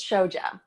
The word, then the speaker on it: Shoja: how do you say your last name it's show job so yeah so I'm a writer I'm